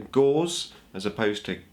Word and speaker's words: Gauss: now through this video I'm going to say Gau as opposed to gaus which I know is supposed to be the way it's pronounced um but I always call it GS